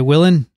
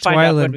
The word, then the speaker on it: Weiland: Willen? Yeah. Yeah, it's Weiland because there's one L.